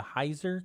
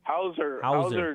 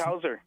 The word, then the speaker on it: Hauser: The Heiser court ruling? Hauser decision. So he says like Doogie it's Howser.